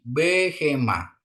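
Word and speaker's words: בְּהֵמָה: ya ee seperti ini kalau ini ee moving spa ya jadi dibunyikan pendek ya n ini bacanya jadi behema behema ya behema terus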